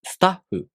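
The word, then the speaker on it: スタッフ: Another example is スタッフ. You also say the word making a pause even though the h sound is a fricative.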